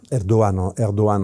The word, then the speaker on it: Erdoğan: Monsieur Erdogan Rchep Tay Erdogan arrive au pouvoir Erdogan Erdogan en turc parce qu'il prononce pas le G.